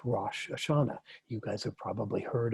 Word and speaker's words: Rosh Hashanah: called the head of the year which is pronounced rosh hashanah you guys have probably heard about that celebration